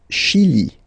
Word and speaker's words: Chili: Le Chili. Le Chili. Okay, remember, CH, sh. Okay, Chili. Le Chili.